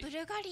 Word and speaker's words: BVLGARI: ブルガリ、これでブルガリって読むんだ、ブ